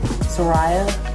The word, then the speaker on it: Serayah: So it's Serayah Amor Brunson. Serayah, Serayah, Amor, Amor, Brunson.